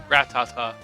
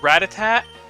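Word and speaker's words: Rattata: But then I think everyone says it Ratatat. But it's Ratata.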